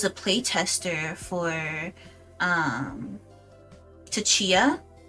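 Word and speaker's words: Tchia: I was a play tester for um, Tatia. It's spelled T C H I A, which was like a really adorable game, completely unplayable.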